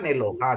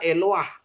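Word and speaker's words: אֱלוֹהַּ: ini Elohim eloha ya ini kalau bacanya kan eloha gitu ya eloha tapi ini dibaca eloah gitu ya Satu lagi no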